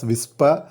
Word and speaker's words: WSPR: kilometers on 7 megahertz wspr pronounced as whisper stands for weak signal